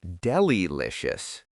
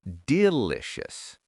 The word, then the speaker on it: delicious: Not delilicious, it's delicious. Nice pronunciation tip.